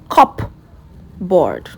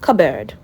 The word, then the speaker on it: cupboard: You don't say cupboard. No, you say cupboard. Cupboard. Cupboard.